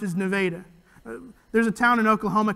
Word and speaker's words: Nevada: and like oklahoma towns that the way it's pronounced is nevada there's a town in oklahoma called miami it's